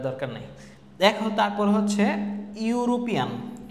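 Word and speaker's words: European: দেখো তারপর হচ্ছে ইউরোপিয়ান, এই যে ইউ উচ্চারণ আছে ইউরোপিয়ান।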